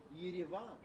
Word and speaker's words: Yerevan: The capital of Armenia is Yerevan, or Yerevan, if you want to pronounce it a little bit closer to Armenian, or even Russian, because those are the two main languages spoken in Armenia.